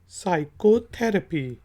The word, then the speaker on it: psychotherapy: इसके बाद वर्ड है PSYCHOTHERAPY, साइकोथेरेपी। तो पी साइलेंट है, जिसमें साइकोलॉजी में है, उसी से निकला है साइकोथेरेपी।